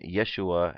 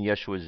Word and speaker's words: Yeshua: the second sound the Yeshua's name is called Siri Siri and is pronounced like the letter e in the word net ok net a just